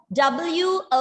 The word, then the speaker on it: women: The correct pronunciation is mischievous. And the next one, W-O-M-E-N.